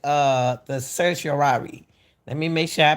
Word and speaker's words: certiorari: Steele, the right, the certiorari. Let me make sure I pronounce it right again.